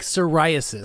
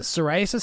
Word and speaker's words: psoriasis: in the front and silent p's you know what the hell are you talking about like psoriasis psoriasis has a p in the front i guess